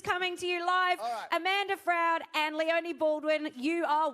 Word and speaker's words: Froud: I'm going with Froud. Okay. Rhymes with cloud.